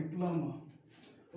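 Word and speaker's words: plumber: प्लम्बर क्या इट्स प्लम्बर, नॉट अ प्लम्बर, प्लम्बर बी को यहाँ पर साइलेंट कर दो, ठीक। इसे क्या क्या पढ़ेंगे, प्लम्बर।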